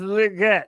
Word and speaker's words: Legette: Yeah, and it is legit. They asked him in his press conference how to pronounce it, and he said that the Roger Goodell said it right. It's legit. You're here at the stadium for the first time.